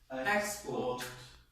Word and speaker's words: export: That nouns will have the main stress coming. I think first. Okay? First. On the first syllable, that's right. And they sound like what? Import. Export.